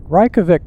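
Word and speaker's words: Reykjavík: Reykjavik, most people pronounce Reykjavik, Iceland, the way I just did, Reykjavik.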